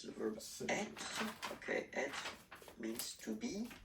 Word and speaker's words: être: How you pronounce? Which is the to be is quite used. To be. Languages is to be, être.